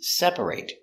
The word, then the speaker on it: separate: a very special word it has two pronunciations first we look at separate is a verb when it's used as a verb or action it's separate I need to separate